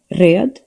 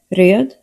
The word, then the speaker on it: röd: Blomqvist Palmquist The letter R is rolled in Swedish, which takes some practice. Examples. röd ratt råtta röd ratt råtta When R